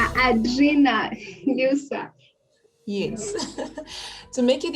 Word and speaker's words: Adrienne: Yes, because it's actually a French name. Oh. So Mm-hmm. to get the pronunciation right, you have to turn around your tongue in R's and stuff. So I make it easier. And I Oh, say it right. in an more English friendly way.